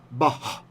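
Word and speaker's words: בָּהּ: But if you put the dot in the end, that Mappiq, that tells you to pronounce it. So sometimes you'll hear me say bah.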